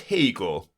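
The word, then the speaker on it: Haigha: happy his name is Hegel he pronounced it to rhyme with mayor I love my love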